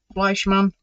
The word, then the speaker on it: Fleischmann: Is that how you say it? Fleischmann, like Fleshman, but not.